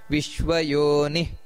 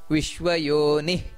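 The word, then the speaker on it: ವಿಶ್ವಯೋನಿಃ: ನೋಡಿ ಬಬ್ರು ಅದು ಮಹಾಪ್ರಾಣ ನಂತರ ವಿಶ್ವಯೋನಿ ವಿಶ್ವಯೋನಿ ಅಂತ ಅಲ್ಲಿ ಎರಡು ಸೊನ್ನೆ ಇದೆ ಶುಚಿಶ್ರವಹ ಅಲ್ಲಿ ದೀರ್ಘ ಬರಬೇಕು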